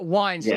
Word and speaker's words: Weinstein: I had nothing to do with it, but yes, it rhymes with Einstein. There you go. That's the mnemonic, isn't it? Bret Weinstein.